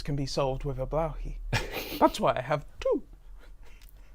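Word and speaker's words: Blåhaj: how you well firstly the a has a circle above it whatever that mean but that that's that's some blow blowy that's how you pronounce it I'm imagining now there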